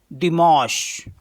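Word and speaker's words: dimanche: है Sunday Sunday को French में बोलते हैं दि मश इसका स्पेलिंग है यानी कि दे ई एम आ एन से आश अ दि मोश दि मश दिमोस मीस होता है संडे दिमोस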